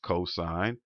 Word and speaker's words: cos: abbreviation for this word, it's still pronounced the same way you would say the entire word. So it still says sine, cosine would be COS, still pronounced cosine, and tangent TAN.